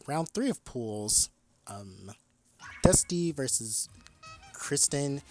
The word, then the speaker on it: dsuty: Um, Dusty versus Kristen. I know it says dsuty, but it's pronounced Dusty to me at least.